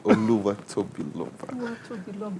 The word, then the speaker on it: Oluwatobiloba: Oluwatobiloba.